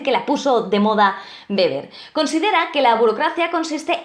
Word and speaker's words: Weber: la oposición lo llamamos Weber, ¿no? De website, de webinar, no. Weber, se pronuncia Weber, es alemán, a ver si aprendemos todos un poquito de alemán.